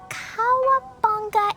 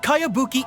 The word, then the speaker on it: Kayabuki: By Kawabunga Iki. Yoimiya, this is a really strange name. Who's this Kawabunga? It's pronounced Kayabuki Ike.